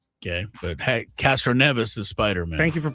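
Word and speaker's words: Castroneves: But Castro Neas is Spider-Man. Thank you for pronouncing it right.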